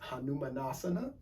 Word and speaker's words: Hanumanasana: she's doing the splits in sasquatch that is pronounced hanumanasana and that is the splits kirsten is tall